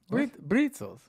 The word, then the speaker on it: Brezel: And they're pronounced with a B. Brezels.